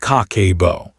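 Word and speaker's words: 家計簿: Habit number one, the cake pronounced kakebo.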